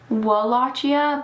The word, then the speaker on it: Wallachia: It's spelled Wallachia, but I'm pretty sure it's pronounced Wallachia.